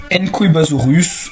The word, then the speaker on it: Nqwebasaurus: Et donc, sans transition aucune, on va attaquer Enkoibasaurus. Son nom est tellement bizarre que je vous l'écris parce que entre comment ça s'écrit et comment ça se prononce, il y a un énorme fossé.